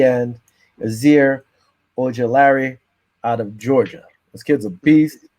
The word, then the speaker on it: Ojulari: Aziz Ujulari. Okay, Ojulari. That's it. I think that's how you say it.